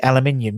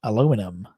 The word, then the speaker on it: aluminium: what it was um uh can you say aluminium yeah because that's how it's pronounced that's how it's spelt aluminium not aluminum aluminium that's how it's meant to be pronounced